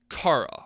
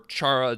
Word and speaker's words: Chara: the character known as Cara or Chara depending on how you want to pronounce it however this character also